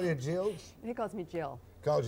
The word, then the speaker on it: Geills: don't know what it means it's yeah jills much you what does John the Prime Minister call you probably all sorts of other things no but do he call you jills he calls me Jill calls you Jill or